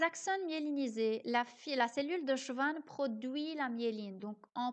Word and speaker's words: Schwann: Ça s'écrit S-C-H-W-A-N-N, mais ça se prononce Schwann, pas Schwann.